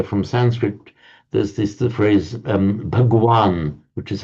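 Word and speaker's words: भगवान: There's the phrase Bhagwan, which is how it's pronounced in Hindi.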